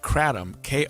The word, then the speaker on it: kratom: I'm shaking my head at you because we asked for pronunciation because I didn't know either, but I've been told it's kratom.